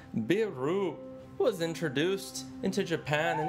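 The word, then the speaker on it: ビール: of Asian beers hiy beer is the most popular alcoholic drink in Japan pronounced biru was introduced into Japan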